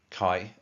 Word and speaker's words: Kai: The guy who did my tattoo was called Kai, pronounced like having a K in front of an I. Kai.